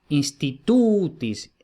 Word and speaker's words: institutis: Institutis, como la penúltima tiene el macrón, entonces va acentuada, institutis.